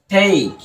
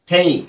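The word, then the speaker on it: take: এখানেও দেখো ইটা কিন্তু সাইলেন্ট রয়েছে, সাইলেন্ট আছে না?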